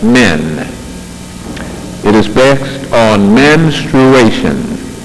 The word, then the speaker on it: menstruation: it is based on menstruation menstruation many times it is pronounced ministration that is not correct but one thing is